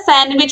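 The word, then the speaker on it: sandwich: सैंडविच। इसका उच्चारण क्या होता है? सैंडविच। तो आप देखोगे डी जो है ये साइलेंट होता है, तो ऑप्शन सी जो है ये राइट आंसर हो जाएगा।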